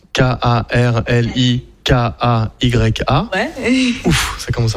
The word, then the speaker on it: Karlikaya: Et juste pour revenir à Célène Carlecaya, vous la retrouvez sur sa chaîne YouTube, Célène Carlecaya, comme ça se prononce, Karlikaya.